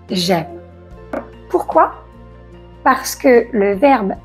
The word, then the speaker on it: j'aime: On ne dit pas je aime, non, on dit j'aime.